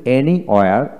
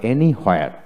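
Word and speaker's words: anywhere: এভরিওয়্যার হচ্ছে British উচ্চারণ, এভরিহোয়ার হচ্ছে আমেরিকান উচ্চারণ। যেমন এনিওয়্যার আবার এনিহোয়ার, তো আমরা অ্যাজ ইউজুয়াল এনিহোয়ার উচ্চারণ করি।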